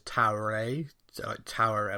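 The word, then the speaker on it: Taweret: Arut, with the goddess Taroet. I'm really not sure I'm pronouncing that right, because the pronunciation guide I found online says Taure, like you don't pronounce the last T.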